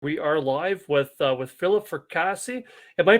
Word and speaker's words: Fracassi: We are live with Philip Fracassi. Am I pronouncing that right, Philip? It's fracassi, Fracassi. Okay. like a lasagna.